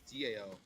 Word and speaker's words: Tao: I thought it was DAO. It's spelt with a T, but you say it with a D.